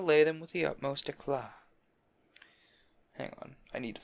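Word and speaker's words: éclat: It's E-C-L-A-T. Eclat? That's an A with an umlaut? I guess that's It's like, it's an A sound with like, with like O lips, if I remember right.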